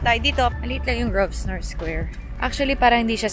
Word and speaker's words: Grosvenor: Maliit lang yung Grosvenor Square. Actually, parang hindi siya square. Bilog siya. Grosvenor Circle siya. O silent S siya.